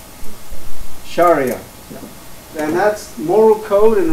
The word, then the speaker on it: Sharia: Islam it's specifically Shari how do you pronounce this Sherea Sherea close enough Sharia and that's moral code